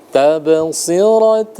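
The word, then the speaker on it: تَبْصِرَةً: Tabsirat. Ada yang tahu kenapa dibaca tawwa? Kenapa tidak dibaca tanwa? Ada yang tahu kenapa tadi dibacanya begitu? tabsirat. Kenapa tidak ditanwa? Karena di sana ada hukum idgham bih?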